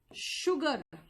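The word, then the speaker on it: sugar: इसका मतलब एक बार मैम आपने कहा कि शुगर, यानी कि एक बार एस एच का साउंड दे रहे हो, शुगर।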